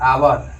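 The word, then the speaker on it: hour: फिर आवर, आवर यहाँ एच है, बशर्ते निर्भर करेगा इस उच्चारण पे। हिंदी मीनिंग को भी देखना है इसका, हिंदी में उच्चारण कैसे? आवर, यानी कि आ से आ रहा है, इसलिए यहाँ पे एन हो जाएगा।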